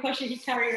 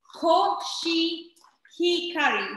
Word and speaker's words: Koshihikari: But now I go to trusty Amazon and I type in Koshihi curry rice.